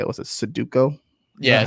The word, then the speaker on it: Sudoku: Was it Sudoku? Yeah, Sudoku.